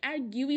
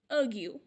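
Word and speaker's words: argue: আমরা অনেকে এটাকে আর্গিউ বলি, অ্যার্গিউ বলি, আর্জু বলি, অনেকে এটাকে অ্যার্গিউই বলে থাকে, যেটা একদমই সঠিক নয়। এটার প্রোনাউন্সিয়েশন হবে আর্গিউ, এটার অর্থ তর্ক করা।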